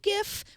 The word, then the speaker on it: GIF: websites just ahead of GIF with 62.3 GIF was leading by more than 15% a year ago and yes that's how you say it gif thank you for that